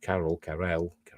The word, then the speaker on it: Carell: the first season titled lunar habitat martinez steve carroll carrell pronouncing steve carell i apologize in spades i'm